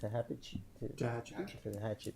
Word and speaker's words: Tehachapi: I think one to is it how you pronounce it? Tehachapi.